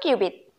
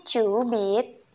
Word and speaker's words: cubit: Nah, dari ujung jari sampai siku, namanya 1 qubit. Tulisannya sih cubit, cuman bacanya qubit.